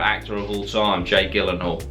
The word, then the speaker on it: Gyllenhaal: of all time Jake Gyllenhaal if you wanna pronounce it correctly because it's actually Swedish is Jake Gyllenhaal anyway prisoners what's a